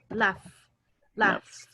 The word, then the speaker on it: laughed: Laughed. Entonces el pasado sería laughed. Laughed. Así se pronuncia, pero se escribe de otra forma, right? Se escribe así, ¿ok? Pero lo vamos a pronunciar como con una T.